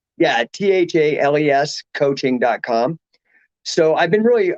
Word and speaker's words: Thales: named my company after it's t-h-a-l-e-s so it looks like thales but it rhymes with bailey's like the